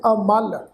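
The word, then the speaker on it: ਅਮਲ: अमल पाठ है ऐड़ा मम्मा लल्ला, ऐड़ा अखर अगेतर लगा होया जी। पाठ उच्चारण करांगे अमल।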